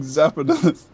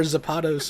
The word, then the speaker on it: Zapdos: Like Zapdos, like the Pokemon, or Zapados, or like, what are you trying to say? Zapdos. Zapdos? Like it's two syllables. Zap and then dos.